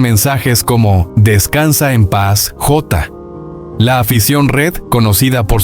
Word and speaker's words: Jota: Diogo José Teixeira da Silva, conocido simplemente como Jota, una pronunciación portuguesa de la letra J, nació y creció en Gondomar, en una familia obrera.